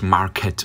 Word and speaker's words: Market: Nein, es heißt eigentlich Market, also Englisch ausgesprochen.